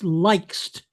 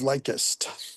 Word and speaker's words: lik'st: Yeah, it's usually lik'st instead of likest. Yeah. So, But a lot of people do it make it all likest, and it's it they're not they're not listening to the pentameter.